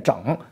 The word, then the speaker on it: 正: 纵一品，他就是念整那个字儿，发音就是念整啊，不为什么啊，不为什么啊。